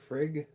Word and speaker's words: Frigg: next one which is red frigg or frigga depending on how you like to pronounce it um who is probably